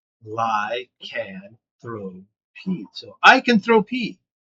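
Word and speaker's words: lycanthropy: First syllable is the word lie. The second syllable is the word can. The third is throw. And the last one is pee. Lie. Can throw pee.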